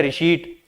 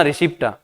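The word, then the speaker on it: receipt: रिशीट होता है रिशीट, ठीक है, आप बोलना रिसिप्टा, बात अलग है, ठीक है, परंतु होता क्या है रिशीट।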